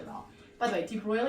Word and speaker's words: de Broglie: By the way deep broil is spelled really weird like that. I used to call it the drogly wavelength but it's not.